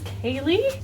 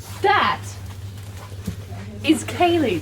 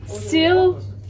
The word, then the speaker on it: Ceilidh: That is Kaylee. That right there is Kaylee. Yeah, what do you think it looks like? There's a D in there. The D is silent. It looks like sealed.